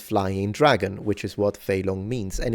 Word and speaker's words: Fei Long: you know the character Fei Long in Street Fighter. In Mandarin, you would read it Fei long. It's first tone, second tone.